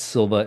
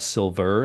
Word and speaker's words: Silva: And it's Silva, Silva. I know I'm from the New England area, so it's not Silver, and I just forgot how to say the R.